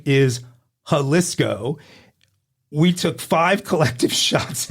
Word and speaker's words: Jalisco: save the day correcting me first with with how Cisco wrong he later amended that to to high cysco wrong and then and then he went for the grammatical hatrick telling me it was halisco and wrong for the third time the correct